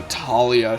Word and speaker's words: Thalia: on my judgment of how good of a Talia she is. Still calling her Thalia though. That's still weird to me because I'm just used to that being pronounced with a hard T.